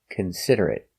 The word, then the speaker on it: considerate: Four syllables. The stress is on the second syllable.